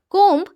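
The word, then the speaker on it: comb: তো এর জন্য আমরা ইউজ করব কোম্ব। মনে রাখবেন এখানে বি সাইলেন্ট থাকে, তাই বি এর উচ্চারণ আমরা করব না। কোম্ব মানে চিরুনি অথবা চিরুনি দ্বারা আঁচড়ানো।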